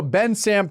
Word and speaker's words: Bensalem: I've said it wrong every ad read, and I get yelled at it every time. So we'll go Ben Sam, PA.